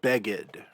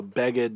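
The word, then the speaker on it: בגד: helpful then we have beggad remember this little arrow here indicates that the accent is on the second to last syllable rather than the final syllable so bagged means garment or clothing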